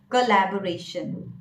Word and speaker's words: collaboration: The same way we pronounce congratulation, the same way you may pronounce collaboration. Collaboration.